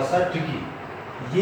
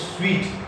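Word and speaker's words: suite: साइड पढ़ रहे होंगे, कुछ सूट पढ़ रहे होंगे, मगर इसके करेक्ट प्रोनाउंसिएशन जो है वो है स्वीट, स्वीट।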